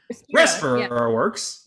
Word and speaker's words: RespiraWorks: RespiraWorks.